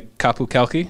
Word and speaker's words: Qapu Khalqi: And you're once again bringing the Qapu Khalqi.